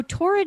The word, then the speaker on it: Taured: So Torrid is spelled Taured.